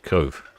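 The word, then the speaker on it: Cobh: Oh, I'm mispronouncing cob as cob instead of cove.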